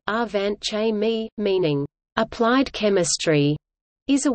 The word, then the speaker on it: Angewandte Chemie: Angewandte Chemie, German pronunciation, Angewandte Chemie, meaning applied chemistry, is